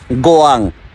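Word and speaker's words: 고양: ভার্সনের নাম লেখা আছে জি ওয়াই এন জি অর্থাৎ যেটা উচ্চারণ হবে গোয়াং অর্থাৎ এই পার্কটির নাম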